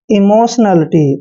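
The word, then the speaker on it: emotionality: और देखिए टी आई ओ एन का उच्चारण शन करते हैं, यानी कि इमोशन।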